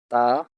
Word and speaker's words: ت: The only difference is that ta is a thin sound and to is a thick sound.